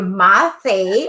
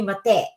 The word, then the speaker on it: Mathe: yes i am my name is uh always pronounced here mathe oh you know for filipinos they call me mate yeah i forgot i should have asked you